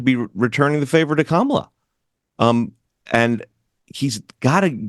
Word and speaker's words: Kamala: a problem like like I'm gonna say Camala because it rhymes with Maria even though I know it's kamla how do you solve